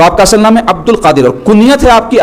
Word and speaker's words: عبد القادر: عبد القادر۔ لوگ عبد القادر بولتے ہیں، تو تصحیح کر لینا، صحیح تلفظ کیا ہے؟ عبد القادر۔ قادر سے عبد القادر،